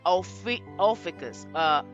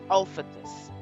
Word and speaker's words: Ophiuchus: to the topic of Ophiuchus or Ophiuchus. Some of them say, but I'm going to say Ophiuchus because it looks like it should be pronounced that way to me.